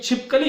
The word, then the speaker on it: छिपकली: तो छी और ली इन 2 ध्वनियों पर ही हम ज्यादातर बल देते हुए दिखाई देते।